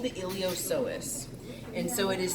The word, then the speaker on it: iliopsoas: so that's called the iliopsoas so this little guy right here is the iliopsoas so it's spelled like iliopsoas with the P is silent you cannot see it